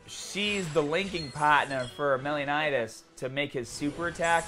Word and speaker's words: Meliodas: There he is, Meliodas. I always say his name kind of wrong, I think. Meliodas? My goddamn accent prevents me, I guess, from saying it correctly. I'm gonna have to practice. Meliodas.